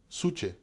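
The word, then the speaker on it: ψυχή: Lo siguiente es, la magnetita tiene suche, y esto es importante porque esta palabra suche, que ahora pronunciamos psique, va a ser la base de la idea de la psicología como disciplina.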